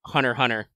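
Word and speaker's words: Hunter × Hunter: of those things where they do the weird thing where they put extra symbols of the name that you're not supposed to pronounce oh is it x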